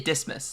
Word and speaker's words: Dismas: must be D dmus I'm going to say dismus like Christmas dismus mive when you